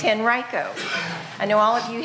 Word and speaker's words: Henrico: I pronounce everyone's name because everybody says it's Henrico no it's Henrico I know all of